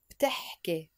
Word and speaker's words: بتحكي: But we pronounce it بتحكي.